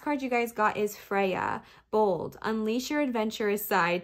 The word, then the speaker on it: Freya: And then Freya is pronounced Frey.